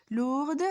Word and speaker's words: lourd: Deuxièmement, deuxième adjectif, nous avons ici lourde, c'est un adjectif féminin, mais son adjectif masculin c'est lourd. On ne dit pas D, on ne se prononce pas D, on ne dit pas lourde, on dit lourd.